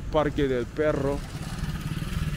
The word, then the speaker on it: Parque del Perro: But we have arrived, there we go, the park of the dog park, Parque del Perro. I have to pronounce it with the double R, you know what I'm saying?